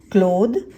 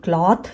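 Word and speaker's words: cloth: क्लोथ, आपने देखा होगा ये क्लॉथ नहीं है, ये है क्लोथ।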